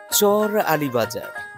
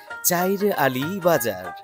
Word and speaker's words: চর আলী বাজার: নালিতাবাড়ির সমতল ও পাহাড়ের মিলনস্থল নয়াবিল ইউনিয়নের চর আলী বাজার। স্থানীয়দের উচ্চারণে যা হয়ে উঠেছে চাইর আলী বাজার।